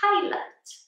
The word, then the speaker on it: pilot: This one here, we have a pilot. A pilot. So here, we pronounce this with an up sound, again, like the schwa.